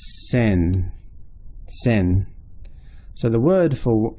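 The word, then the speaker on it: 千: they have a separate character for and it's pronounced sin sin so the word for if you were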